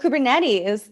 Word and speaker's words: Kubernetes: Is that how that's pronounced? - Oh, Kubernetes.